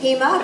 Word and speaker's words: Pima: have an emergency alliance Pima rhymes with FEMA and we're moving forward